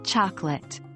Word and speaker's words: chocolate: Another example is the second O in the word chocolate. It's not pronounced as a clear O, but rather as a soft sound.